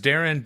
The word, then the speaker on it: Darin: right right or something my name is Darren d-a-r-i-n two syllables five letters yeah so it